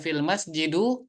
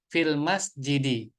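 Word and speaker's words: في المسجدِ: yang menjadikan majrur Jadi dibacanya tidak fil masjidu tapi fil masjidi ya dengan harakat kasrah fil Baiti dengan harakat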